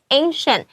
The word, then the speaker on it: ancient: before，这是一个非常 native speaker 常常用的用法，所以也可以把它学下来，在你写作文的时候用的话，你的层次就会变得更高级一些些。再来第二个要注意的是，我们中间后段的 ancient 这个字是古代的、古老的，很多人看到 ci 不知道怎么发音，老师这边有特别提醒你哦，它是有点发 sh 的声音，ancient 发对声音。拼对字，你这个字你就 get 到了啊，对不对？再来我们会有这个 show strength，这个 show 老师说可以用